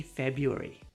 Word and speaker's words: February: If you want to sound natural, just say February.